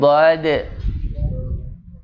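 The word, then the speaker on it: ضاد: Kemudian dad, ya, pengucapannya gitu ya Pak ya, bukan dot tapi dad, ya, shad.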